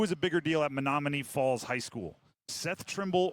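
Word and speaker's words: Menomonee: Um who's a bigger You have to help me on the pronunciation. Is it Is it Manomin? Monomin. Manom. All right. Uh who is a bigger deal at Monomony Falls High School?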